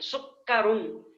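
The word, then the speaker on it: سُكَّرًا: سکر سکر کی معنی چکر, یہ شکر کاف کے تشدید کے ساتھ, سین کے ضمہ کے ساتھ یعنی پیش کے ساتھ, کاف کے تشدید, کاف پہ تشدید بھی ہے اور زبر بھی ہے. سکرن, اس کا تلفظ اچھی طرح سے یاد رکھیے گا.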